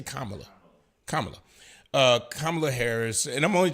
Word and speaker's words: Kamala: Kamala. I say Kamala.